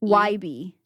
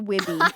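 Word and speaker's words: Wybie: YB, right? Or YB. Wib. It's not Wibby. It's definitely not I'm Wibby. just saying it wrong.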